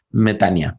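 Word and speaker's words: μετάνοια: mi mente es arrepentirse metanoia o betania como dice la pronunciación griegas betania pero no será muy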